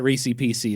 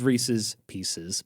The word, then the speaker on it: Reese's Pieces: I fully admit Reissi PC is not correct. It is Reese's Pieces.